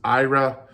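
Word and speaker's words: Éire: several different ways uh One Way say it's traditionally pronounced as Ira it's EI e IR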